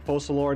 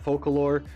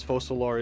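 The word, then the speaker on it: Focalors: good to know that they're actually saying fossil or not folklore because fossil or is the more French way of pronouncing that name and that just makes sense since Fontaine is very much France inspired fossil or is very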